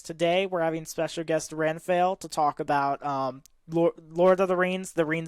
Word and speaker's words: Renfail: before i say anything your name is pronounced ren fail right you can either call me renfield or you can call me by my real name tim either one is fine by me all right i'm just